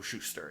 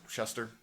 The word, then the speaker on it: Shuster: Superman was created by Jerry Seagull and Joe Schuster. I should say that. Shuster.